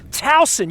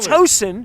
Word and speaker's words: Towson: uh baltimore joe montagna says towson you even know how to pronounce it it's not tosin no uh uh i